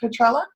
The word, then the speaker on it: Petrella: I saw so many I asked you'd like pronouncing your last name so it's Diane is it Petrella you got it all right good good I